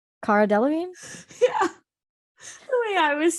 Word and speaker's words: Cara Delevingne: Cara Delevingne. Cara Delevingne.